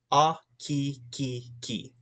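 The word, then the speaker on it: ʻAkikiki: A-ki-ki-ki. A-ki-ki-ki. So when you're pronunciating, there's 3 K-I, K-I, K-I when you say its name.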